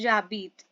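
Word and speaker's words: j'habite: I live को हम बोलेंगे फ्रेंच में जाबीद।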